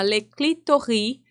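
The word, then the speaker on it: Le Clitoris: É uma animação francesa que se chama Leclitori. Hum. ou eh se escreve Leclitoris, tá?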